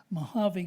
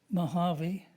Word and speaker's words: Mojave: Mojave Ghost, a novel poem. See how you hear how Mojave and novel ring off each other.